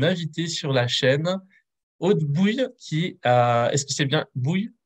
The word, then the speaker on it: Bouil: Je suis avec une invitée sur la chaîne, Aude Bouille, est-ce que c'est bien Bouille que ça se Bou- prononce?